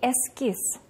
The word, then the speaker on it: эскиз: Два слога. Ударение падает на второй слог. Буква «з» на конце слова слышится, как звук «с».